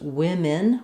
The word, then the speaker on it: women: It's pronounced women. Women with two I sounds.